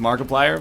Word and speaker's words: Markiplier: I got nothing against Markiplier, but I like that his name rhymes with multiplier.